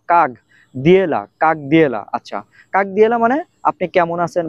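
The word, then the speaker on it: как дела: এটার কিন্তু বানান যদি হয় তাহলে বানান অনুযায়ী যদি উচ্চারণ করি তাহলে উচ্চারণ হবে কাক। ক আকার ক। কাক দিয়েলা। বাট এটার উচ্চারণ কাক দিয়েলা হবে না। ক আকার গ।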